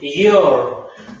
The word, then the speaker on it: your: Your. Recordarles que la SY no tiene que pronunciarse, chiquillos, como Y, como you, como yubi. Está malo, tiene que ser como si fuese una I normal.